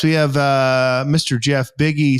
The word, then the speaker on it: Buege: have uh Mr Jeff biggie spelled bu G but pronounced like Biggy Smalls from Salt Lake City